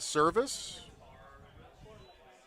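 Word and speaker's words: Servais: Ed Service, the head coach of Creighton. That one just misses somewhere. 1-1. Last name is spelled Servivais. Just like Scott Service.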